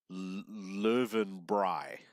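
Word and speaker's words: Löwenbräu: I know I asked her how to pronounce Lowenbrau and she said in German or in Bavarian it's pronounced live and bry so for those who were curious about that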